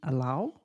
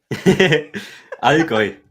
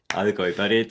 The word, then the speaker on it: Allgäu: of your information, and I researched in Allau and Altstetten. I'm pronouncing it correctly. Nope. Allgäu. Allgäu.